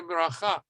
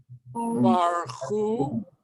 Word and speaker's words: Baruch: I heard somebody say baracha. No. Baruchu. Beburcha. Becha. And so the word is what? Baruch. 2 syllables.